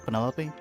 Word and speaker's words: Penelope: for Penelope? Officially, yes, but I never can be bothered with all 4 syllables of it.